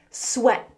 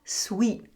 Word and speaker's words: sweat: Sweat. Sweat. The pronunciation is important. The word is sweat, not sweet.